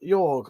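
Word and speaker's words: Jörg: That's what I think you'll find his name's pronounced Jorg, by the way. J is pronounced with a Y in German.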